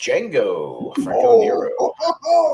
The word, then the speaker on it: Django: and Django says uh Django the D is silent Franko never goes yes